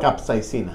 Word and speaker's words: capsaicina: Roger, ¿cómo se pronuncia, por favor? Capsaicina.